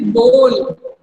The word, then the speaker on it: bowl: Tiny little bowl. Bowl. क्या है माधव ये? बोल. W जो है साइलेंट है. W को पढ़ना.